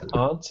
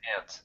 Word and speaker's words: aunt: yes, I heard that there are two different pronunciations for aunt and ant. Which one There is are, and I just use both. I use both. There's aunt and there's aunt. They're both correct.